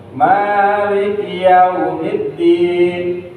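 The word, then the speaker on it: مَالِكِ يَوْمِ الدِّينِ: Tapi bacanya ya. Maliki yaumiddin.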